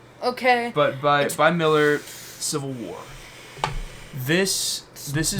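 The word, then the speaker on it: Millar: It's spelled with an it's a R. It's Malar. Okay. But by by Miller Civil War.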